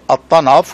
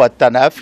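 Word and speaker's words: Al-Tanf: le poste frontière de At-Tanaf ou At-Tanaf, les deux prononciations existent.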